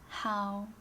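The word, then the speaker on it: 好: is h a o the pronunciation without the tone is how make it a third tone right that's the pronunciation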